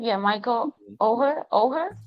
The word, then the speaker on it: Oher: name yeah Michael Oher oh her you say it like that oh and Michael Oher